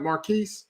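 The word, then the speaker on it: Marquise: the situation between 50 Cent and his son Marquis am I saying it right Marquis yeah you're saying it right you're saying it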